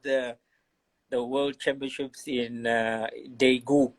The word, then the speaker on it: Daegu: the world championships in daegu is they go yeah yes that's it that's it then it's it's that's their correct pronunciation the world chance was